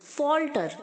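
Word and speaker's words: falter: फाल्टर्स नहीं बोलना है फाल्टर ओके एफ के आगे जो ए है वो ओ की तरह साउंड करेगा फाल्टर फाल्टर फाल्टर लडखडाना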